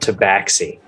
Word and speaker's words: Tabaxi: 300 gold take backsies it's pronounced tabaxi no yeah i think sarge is just like